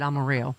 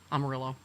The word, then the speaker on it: Amarillo: So, Chip Roy, who is a Republican douchebag and also a putt putt outside Amaro, right? Amarillo. Amarillo. Yeah. Yeah. They pronounce the L's in that, right?